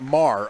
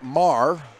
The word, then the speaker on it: Marr: Last name is pronounced Marr. Okay, thank you very much. Thank you, Caitlin Shand, for that update. So it's Marr.